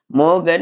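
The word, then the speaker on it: மோகன்: का तमिल वाक्य है मोगन नाल मरणाल वरवांग। मोगन नाल मरणाल वरवांग कहते हैं। तमिल भाषा में मोहन का प्रोनाउंसिएशन मोघन जैसे करते हैं। इसलिए मोहन को मोगन लिखी हूं।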